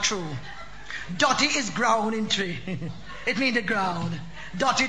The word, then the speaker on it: Twi: name sure yeah man it spelled twi but it pronounced tree i want good language